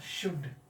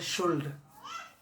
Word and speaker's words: should: इसका शुद्ध उच्चारण द एप्लीकेशन ऑफ शुड। कितने छात्र छात्राएं पढ़ देते हैं शुल्ड? क्या पढ़ते हैं? शुल्ड, जिसका स्पेलिंग SHOULD। ये गलत, this is the wrong pronunciation.